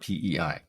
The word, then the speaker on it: PEI: So for Prince Edward Island, we don't call it pay, we call it PEI.